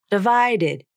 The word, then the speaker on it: divided: Divided. Id, id, id. Since it's unstressed, there are many words in which the t or d consonants turn into a flap, because you'll have a